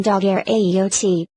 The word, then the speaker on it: daguerreotype: This word is properly spelt daguerreotype, and pronounced as if written daguerreotype. The inventor's name is Daguerre, but the French usage requires an accent on the second D, in the formation of the compound term.